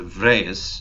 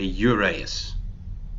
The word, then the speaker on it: Uraeus: Now, just for some information, there is no such thing as a Vrees. There is such a thing spelt with a U called a Uraeus.